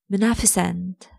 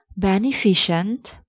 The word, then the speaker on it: beneficent: Number one, beneficent. It's not beneficent, it's beneficent. It's beneficent, not beneficent.